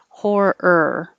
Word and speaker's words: horror: i could say horror when you say then your tongue is curled back for the r keep it hold it there and make er again horror it's the same as